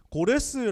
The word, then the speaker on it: 고레스: 세계사를 배우 셨다 면 그 세계사 교과서에는 키루스 2세 라는 이름으로 등장합니다 그래서 실제로는 키루스 2세 라고 하면 검색해보면 바로 뜹니다 고레스의 라고 하면 이제 성경에 나오는 발음 이구요 그 다음에 역사책에 는 키루스 영어 식으로 발음하면 싸이더스 이렇게 되는 사람입니다 요 사람 이름의 뜻이